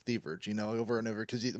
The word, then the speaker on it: Thieverge: Okay, Thieverage, Thieverage, Thieverage.